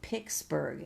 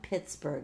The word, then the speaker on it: Pittsburgh: And Trapper is from Pixsburg. And I know if you're a longtime resident, it's not Pittsburgh, it's Pixsburg. Like a guitar pick.